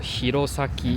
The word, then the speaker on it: 弘前: 红前的这个日文发音的话，念作 Hirosaki，红是念作 Hiro，然后呢前是念作 Saki。